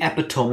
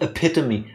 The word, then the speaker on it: epitome: Thank you for saying it the word it should be said, because that word should be epitome, not epitome.